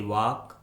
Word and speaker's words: walk: rule number 3 में हम सीखेंगे यदि किसी इंग्लिश वर्ड के लास्ट में LK, LM, LD या फिर LF आता है तो उस इंग्लिश वर्ड में L कम्प्लीटली साइलेंट होता है, यानी L का किसी